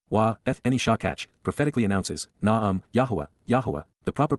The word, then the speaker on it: Yahowah: And she ignored and forgot me, Wa-Eth-Eni Shakach, prophetically announces, Na'am, Yahuwah, Yahuwah, the proper pronunciation of YAHOWAH, our Eloah, God as directed in his Twrah, teaching regarding his YAH, existence and our Shalom WM, restoration.